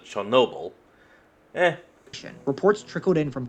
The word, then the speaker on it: Chernobyl: Did he say Cherry Noble? Huh. And I'm not saying that's wrong or anything. I'm saying that's just the first I've ever heard anyone ever pronounce like that. Because, everyone has always pronounced it Chernobyl.